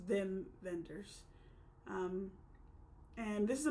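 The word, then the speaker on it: Wim Wenders: directed by Vim venders it's spelled like if you were to read it as like an American it's like whim Wenders but he's German so it's them vendors um and this is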